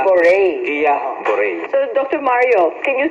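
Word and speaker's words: Guillain-Barré: ba yung pronunciation nung gillian's bar or bar Pinoy tayo kaya dire-diretso e Barang guil bar pero guya Bore Ayon Bore Guia Bore so Dr Mario Can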